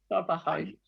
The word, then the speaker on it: trabajáis: Trabajáis. We got that stress on the Trabajáis.